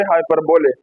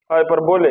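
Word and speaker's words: hyperbole: Number four पर हमारे पास है हाइपरबोले। हाइपरबोले इसकी प्रोनाउंसिएशन भी इस पे थोड़ा ध्यान दें। हाइपरबोले हाइपरबोल नहीं है।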